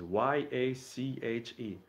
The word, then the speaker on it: Yache: all in simplicity, is Y-A-C-H-E, to get the proper pronunciation, Yache.